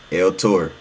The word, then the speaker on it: L-Tore: Look, it's spelled T O R E. You feel me? Hey, my bad, Tor. El Tor.